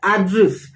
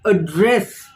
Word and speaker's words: address: pronunciation of address now when it is a noun his address then we stress on the first syllable on the first part of the word address but when it is a verb i address to you something so